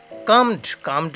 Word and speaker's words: calmed: কামড মানে হচ্ছে CALMED, এলের উচ্চারণ হবে না, এলটা হচ্ছে সাইলেন্ট লেটার, তাই উচ্চারণ হবে কাম মানে হচ্ছে কি শান্ত